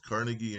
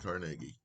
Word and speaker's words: Carnegie: man in the world or Carnegie his name's been pronounced both Carnegie and Carnegie becomes the richest man